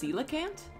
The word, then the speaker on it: coelacanth: I'm a blessing it's pronounced coelacanth oh no it's the it's the fish from Animal Crossing wait that's just how I've said it in my head the whole time it is coelacanth I'm a [ __